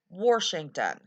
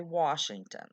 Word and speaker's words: Washington: And I do not say Washington. That's a very common pronunciation of Washington here. I say Washington. W-A-S-H. Wash. Not W-O-R-S-H.